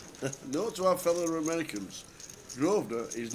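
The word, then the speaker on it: Grosvenor: And now now I'm Grovener. We've got groven or groven. The S is silent.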